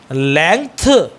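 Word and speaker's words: length: जी टी एच बेटा इसमें जी साइलेंट है लेंथ लेंथ ग लेंथ ऐसे नहीं बोलना है ग को बिल्कुल चबाना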